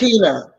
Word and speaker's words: Nekhena: And I think this is such a great um, vibration because it's in line with what Sister uh, Nekhena. pronouncing, huh? Nekhena. Nekhena. Nekhena. Yes, Nekhena.